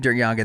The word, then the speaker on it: Der-Yeghiayan: Now, this is we're saying Duryagan. That's how we're showed that it's pronounced.